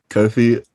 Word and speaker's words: Kofi: way you are born and i forgive my pronunciation kofi kofi correct and you have a brother who performs